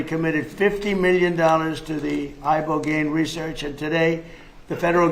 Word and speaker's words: ibogaine: Ibogaine. Remember the name. Is that pronounced relatively properly, would you say? Yes. I don't want to get it wrong. Ibogaine, cuz it's so important, and experienced an 80